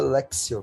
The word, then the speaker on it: Lectio: é esse m lect se escreve Lecto divina e se fala lexio porque lotinha mas tem o e